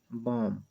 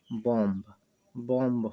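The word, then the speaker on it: bomb: सिर्फ video M बढ़ेंगे बॉम बी को छोड़ दिया जाएगा साइलेंट लैटर होने के कारण कि अगर भी होता तो इसका उच्चारण ऐसा होता बीडीओ एमबी बंब बंब होता लेकिन हम इसको बम पढेंगे उसी प्रकार सीरियल आई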